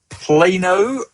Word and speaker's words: Plano: So Grant at BSP tells me that it is a long A sound, so it's Plano, Texas.